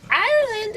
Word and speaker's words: Ireland: Ireland, is that how I'm saying it right? Am I saying it right? Like the country, yes.